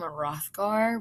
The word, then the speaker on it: Hrothgar: The H is silent, kind of in the king's name, Hrothgar, which you'll see here in a minute.